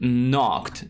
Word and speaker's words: knock: And then the word knocked. Notice that KN in the beginning of the word means that we don't pronounce that K.